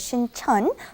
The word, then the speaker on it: Sincheon: One is Sincheon, one is Sinchon. Yes. The one by Yeonsei University is Sinchon, and the one by Jamsil down south, that is Sincheon.